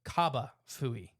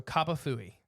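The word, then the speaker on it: J'ba Fofi: go with that uh Jaba is also correct opinion on where you're at okay it's spelled the same way either way it's spelled with a J in the front it's just it's pronounced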